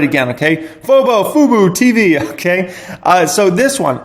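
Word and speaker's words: fuboTV: And first one up here is Bobo Tv, okay? Bobo Tv. Or Fobo. Man, why can I never pronounce this word right?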